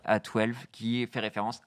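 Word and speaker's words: X Æ A-12: La suite est due au créateur de Tesla et se prononce comme tel, A12, qui fait référence à, je crois, son modèle de jet favori.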